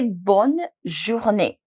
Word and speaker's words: bonne journée: So you say bonne journée. Bonne journée. Let's understand the pronunciation of this.